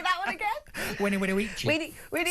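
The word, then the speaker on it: veni, vidi, vici: A V is pronounced as a W, because it's not... Exactly, because it was a U. Yeah, so it's not very, very Vici, it's Winnie Winnie Weechy.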